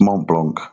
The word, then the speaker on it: Mont Blanc: top of Mont Blanc I know I'm not pronouncing it correctly but it's Mont Blanc that's yeah it's Right.